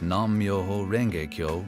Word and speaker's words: nam-myoho-renge-kyo: is great of course at first it may take a while to get used to the pronunciation so you can start off slowly like this nam-myoho-renge-kyo nam-myoho-renge-kyo nam-myoho-renge-kyo nam-myoho-renge-kyo